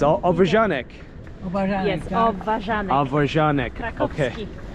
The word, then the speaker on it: obwarzanek: It's obwarzanek.